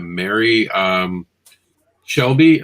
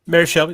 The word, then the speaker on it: Shelley: Because if you like supernatural, one of the things I will say is that Mary Shelby, I believe, who created Frankenstein? Mary Shelley, that's right.